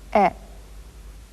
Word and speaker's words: へ: But in sentences, it does double duty and also serves to represent the particle e.